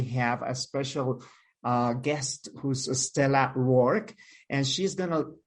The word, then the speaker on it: Stella: And yeah, I'm Stella with Brella. So I recommend everyone go and work for a company that rhymes with your name.